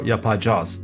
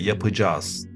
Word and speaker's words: yapacağız: Comment dit-on cela ? Pas « yapacağız » mais « yapacağız ». Le A avant le C se prononce comme ceci : ı, et le « g » doux se prononce ainsi.